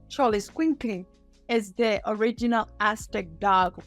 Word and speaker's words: Xoloitzcuintli: dog, which is, I have a hard time pronouncing this name, Xoloitzcuintli. Xoloitzcuintli is the original Aztec dog with no hair, and that was the guide.